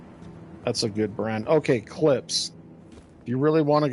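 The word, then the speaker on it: Klipsch: I'll link you the clips now. It doesn't look like it's pronounced clips, but that's how you say it.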